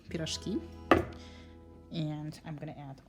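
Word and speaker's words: pirozhki: But there's also the Russian version of pierogi, which is pronounced a little bit differently, peerozhkee.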